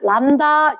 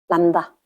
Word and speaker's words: 람다: 그거 반대로 왼쪽에 짧고 오른쪽에 길게 이렇게 쓰기를 이렇게 써놓고 발음은 어떻게 하냐? 람다 이렇게 이야기할 거다. 람다.